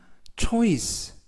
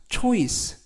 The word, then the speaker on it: choice: 이번 표현은 choice 라고 발음하시면 되겠고요. 이때 발음에서 ch가 취 발음이 납니다. 그래서 choice 라고 발음하시면 되겠고요.